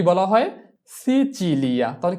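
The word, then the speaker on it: Sicilia: এরপরে সিসিলি, সিসিলিকে কি বলা হয় সিচিলিয়া, তাহলে কি বসাতে হবে লিয়া, লি বসাতে হবে এল ই, লি, সিচিলিয়া, সিচিলিয়া, এস ই সি চি ই চি, সিচি, এল ই আ, লিয়া, সিচিলিয়া।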